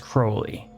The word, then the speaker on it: Crowley: but as I said pronunciations are varied when saying the name and it's not really a big deal in any case I'm just gonna stick to calling him the way I like to pronounce it and I think is the correct way to pronounce it which is Crowley where was I after